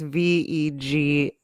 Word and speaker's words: vagus: We'll read a It's few not of these. spelled like Vegas, it's VEGUS. Oh, Vegas.